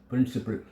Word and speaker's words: principal: ஒரே ஆக்சன்ட், ஒரே உச்சரிப்பு. என்ன? பிரின்சிபல். பால்னு சொல்ல வேண்டாம், புரியுதா? பிரின்சிபல், அவ்வளோதான்.